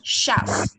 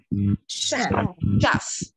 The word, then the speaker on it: chef: đọc từ đầu bếp, không đọc chết mà không xét, cong môi này, chef, chef, đúng rồi, cứ cong môi mà đọc.